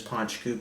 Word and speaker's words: Poit Dhubh: some Gaelic for you no connection between the printed letters and the pronunciation and I know the pronunciation is ponch cube because on the back there's a nice little label that tells me how to properly produce it in poncho is